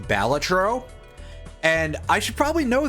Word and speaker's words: Balatro: I've been pronouncing it wrong for a while. It's actually pronounced Balatro.